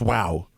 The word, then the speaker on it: guau: a g-u-a-u it's pronounced wow but it's g-u wow wow wow is how dogs it's like bow wow in spanish and my one of